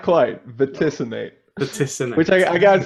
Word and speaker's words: Vaticinate: Vaticinate. Not quite. Vaticinate.